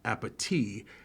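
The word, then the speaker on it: appétit: Tamala says to Angela, "Bon appetit," pronouncing it with a T. It's supposed to be pronounced appetit.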